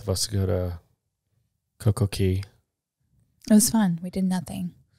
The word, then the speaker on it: CocoCay: But I guess the Bahamas dialect pronounces C-A-Y, which an American might read as K. It's pronounced as key.